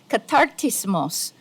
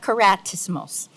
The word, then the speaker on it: katartismos: it should actually be just as my sister here pronounced it very correctly catartismos Global not keratismos it's a Greek word